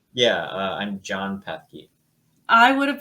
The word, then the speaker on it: Pethke: Yeah, I'm Jon Pethke. I would have pronounced it that way, so I should have